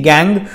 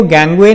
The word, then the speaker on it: gangue: smelted to separate the gangue from it. Gang इसकी जो pronunciation होती है वो गैंगवे नहीं है, इसकी प्रोनाउंसिएशन गैंग ही है।